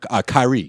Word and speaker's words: Kyrie: No, Kyrie. That's how you say it.